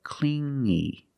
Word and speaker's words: clingy: he was too clingy you hear the sound only the nasal sound here no G not cling but clingy clingy he was too clingy